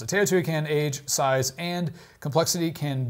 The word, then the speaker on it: Teotihuacan: Teotihuacan. Yeah, that's how you pronounce it. Teotihuacan, age, size, and complexity can make it seem otherworldly, but it's very much the work of humans.